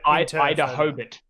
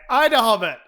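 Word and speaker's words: IDAHOBIT: I believe Ida Hobart. Ida Hobart. Ida Hobart. How I would pronounce that. I would say Ida Hobbit. I said like me. This guy's the fucking Hobbit.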